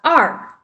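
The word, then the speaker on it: 二: Do you want to pronounce it? I can try two. Is it R? Yes, R.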